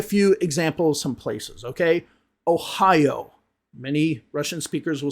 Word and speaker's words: Ohio: Those, instead of saying O, they'll say ah. Let me give you a few examples some places, okay? Ohio. Many Russian speakers will say Ohio.